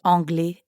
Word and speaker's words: anglais: Notice how the ending of anglais is very similar to français. Both are masculine, and although they both end with an S, you don't pronounce it. So an Englishman would use anglais, but an English woman would say anglaise. Je suis anglaise. Anglaise. Notice how you do pronounce the S in that case.